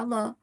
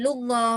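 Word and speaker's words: الله: Ya untuk memberitahu kalau mau baca dari sini, ini dimulainya dari alifnya ini dibaca Allah. Bukan dari lullah, bukan itu.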